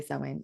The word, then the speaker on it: Samhain: or You sewing. know, Sorry, I should say sewing, not Samhain.